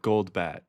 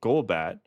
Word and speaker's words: Golbat: Goldbat, not goldbat. I started calling it Golbat when I was an adult.